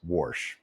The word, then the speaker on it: Warsh: Phonetically, that's Warsh, just like that.